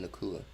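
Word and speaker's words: Nacua: Or should I go play with Nakua?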